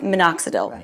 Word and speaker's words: minoxidil: you would most likely say let's start with minoxidil am i pronouncing that correctly that's right ok that's right